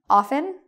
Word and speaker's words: often: Pretty much what this means is you can have it without the T, often, or with the T, often.